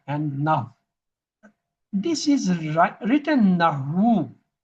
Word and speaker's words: nahw: In writing, we say nahu. In pronunciation, this ha is silent. Just like no. In no, this kaf, the K is silent. You say it's no. You never say kano.